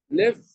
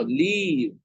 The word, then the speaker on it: leave: The next verb is live. No, leave. Okay? There is a difference in the way we pronounce this word. Leave.